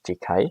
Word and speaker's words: Jekai: They always, it's not Jace, it's Jekai.